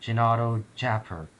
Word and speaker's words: Jinadojaper: she appear and no you're pronouncing your vowels wrong it's pronounced genato chapper that's the intended pronunciation